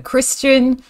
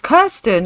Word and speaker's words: Kirsten: get to know emma christian oh is it my name's not even christian it's kirsten i'm so sorry i've been saying her name wrong this whole time her name is kirsten um he wants to